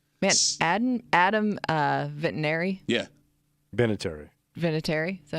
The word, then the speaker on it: Vinatieri: Vinatieri. Is that how you say it? Vinatieri.